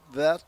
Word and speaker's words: Vett: They pronounce that Vet, just Vet, V-E-T-T. Vet, yeah, like a Corvette.